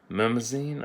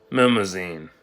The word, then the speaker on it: Mnemosyne: Memazine, I think. Oh, for fuck's sake. I cannot pronounce where you are.